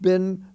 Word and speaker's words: been: with in like i've been going to the movies once a week been or where have you been be it's it's pronounced as if it were spelled b-i-n but it's written spelled b-e-e-n as i say that's